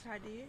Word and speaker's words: Hydia: Hello, my name is Hydia. Heidi.